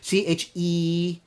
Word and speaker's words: Chaeryeong: And her sister, Chaeryeong, I always have problems pronouncing her sister's name because it's Chaeryong. The R really throws me off.